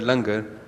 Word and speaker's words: langar: be trying to get this word langar, pronounced langar, into the dictionary.